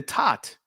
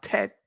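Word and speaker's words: ט: The Tat. In the Israeli, it's pronounced Tet.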